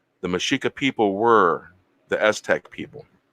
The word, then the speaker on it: Mexica: by the way, if any of you ever hear me refer to myself as Mexican, I am talking about the Aztec Indian and the Spanish.